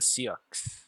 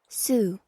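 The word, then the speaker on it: Sioux: and he has the SE I'm pretty sure I said that wrong hold on let me see I know you have one of those things that tells me how to pronounce these things sue the Sue okay two major linguistic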